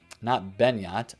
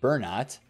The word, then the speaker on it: Bernat: If you haven't bought already, some of them have already started to go up, like this, not Benyat, Bernat, right?